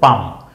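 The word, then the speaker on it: palm: এল আছে ল এর মত মনে হয়। কিন্তু না পালম নয়। উচ্চারণ হল পাম। প আকার পাম ম।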